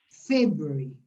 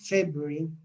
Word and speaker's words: February: En inglés habitualmente las palabras se acentúan en la primera sílaba, te voy a marcar el acento acá, en la primera sílaba de la izquierda. January, February, ¿ya? No van en la mitad, normalmente, ¿ya?